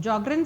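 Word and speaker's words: Sjögren: affected include the following Jr syndrome jrin syndrome means zero Thalia and xerostomia okay let me tell you here s is silent Jr syndrome this is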